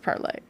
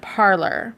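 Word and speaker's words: Parler: is everybody pronouncing it parlor because a parlor is spelled p-a-r-l-o-r and they didn't spell it p-a-r-l-e-r because they're dumb even though they are they spelled it like that because that's the french word uh to speak the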